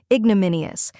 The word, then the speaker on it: ignominious: syllable like in banana then comes Min which rhymes with pin and should be spoken clearly next we have e